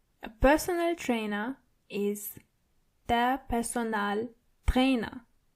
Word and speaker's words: Personaltrainer: A personal trainer is der Personaltrainer. So it's similar, but you have to roll your R one more time. Der Personaltrainer. And the A in personal is more obvious than the English version.